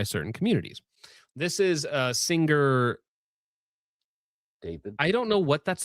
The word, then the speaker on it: D4VD: D4VD is David. That's how it's supposed to be pronounced.